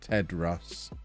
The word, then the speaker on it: Theodros: We have a local news person called Theodros, but she pronounces it Tedros.